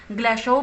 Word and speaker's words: Glashow: सलाम और एक शेल्डन ग्लासहाउ, इसको स्टूडेंट्स आप ग्लासहाउ भी जो है प्रोनाउंस कर सकते हो, ग्लासहाउ भी जो है वो करेक्ट होगा।